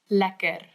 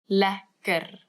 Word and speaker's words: lekker: Lacquer. Lacquer.